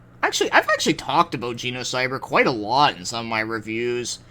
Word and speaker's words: Genocyber: before and well actually I've actually talked about genocyber quite a lot in some of my reviews I've always mentioned how something is like not as violent as you know cyber or Geno cyber I should say you know here's the thing